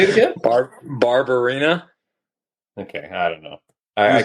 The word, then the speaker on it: Barberena: Barberena.